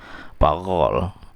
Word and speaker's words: parole: Tulisannya begitu, tapi bacanya kalau bahasa Prancis parole, kemudian yang ini bacanya langue.